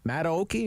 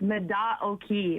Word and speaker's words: Mata Oki: do you say that is it Matt Oaky am I saying that right no that's okay we get that that issue all the time it's Meda o'kee which actually means it